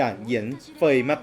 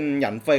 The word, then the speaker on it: Yanfei: ๆ เลย นะ ครับ ก็ มี คน ใน คอมเม้น บอก ว่า อ่าน ว่า เยือน สวย นะ ครับ แต่ แล้ว แต่ ว่า ผม หลุด ปาก พูด ไป ว่า เป็น หยัง ไฟ ก็ ต้อง ขอ อนุญาต